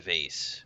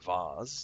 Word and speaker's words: vase: ahead of me ah flower vase or flower voss depending on your preferred pronunciation talk to avery